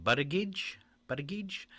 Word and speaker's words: Buttigieg: All right, California Governor Gavin Newsom and Transportation Secretary Pete Buttigieg, I can never say his name, Buttigieg are tied for third place.